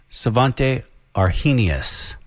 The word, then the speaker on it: Svante Arrhenius: It is, and I'm probably saying the name wrong, Svante Arrhenius.